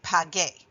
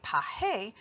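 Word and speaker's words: pague: up with g ue so that we say pag a if we don't have that you in there we have to pronounce it paje which is not the same thing but again we have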